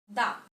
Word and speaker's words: the: Here, the cow, the cat, because here the word cat and cow starts with consonant. That's why the pronunciation is da.